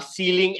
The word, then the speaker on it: ceiling: similarly we have two other words which are ceiling and sealing the similar pronunciation c e i l i n g